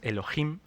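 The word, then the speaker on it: אלהים: que es Elohim lo traduce como Ángeles la pronunciación es Elohim se deriva de otra palabra que es un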